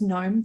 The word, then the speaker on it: gnome: Oh, his name is Nathan with a G, because they're all N names starting with G's, because gnome, the G is silent.